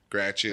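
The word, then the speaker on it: Gratiot: Gratchet. That's how we say it.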